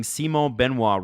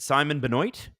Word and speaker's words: Simon Benoit: interesting first period Adam you are pronouncing Simo benoa wrong is it Simon Benoit I I'll I'll call him Simon Beno from now on Jared